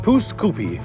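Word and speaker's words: Pouce Coupe: Apparently, it's pronounced poose koopi by the locals.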